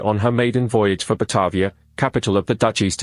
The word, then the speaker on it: Batavia: Batavia, Dutch pronunciation, Batavia, was a ship of the Dutch East India Company, VOC.